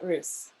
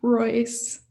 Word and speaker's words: Roos: And the third and final Jurors Award goes to Ava Roos for her 2 pieces here. Okay. I'm so sorry. It's pronounced Royce.